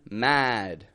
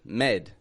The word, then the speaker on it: mad: Eastern Europe as well people will often pronounce the a like an e instead of saying the word mad for example they may say something like Med like I'm so Med about this med this is a